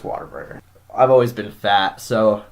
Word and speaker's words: Whataburger: Even though it's spelled W-H-A-T, say water. Yeah. Come on. It's Whataburger.